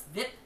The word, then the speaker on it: VIP: What's VIP? Ike says. He pronounces the acronym as a word rhyming with zip.